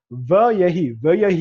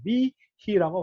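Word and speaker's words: וִיהִי: 바브와 쉐바가 동시에 연결 안 됩니다. 예희 이렇게 발음이 안 돼. 이걸 두 개를 쉐바를 퉁쳐가지고 히렉과 요들을 마테르 처리해버린 거야. 위히라고 발음합니다. 위히.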